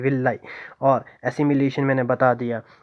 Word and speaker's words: villi: ठीक है, विलाई भी समझ आ गया होगा, स्पेलिंग है VILLI, VILLI, विलाई।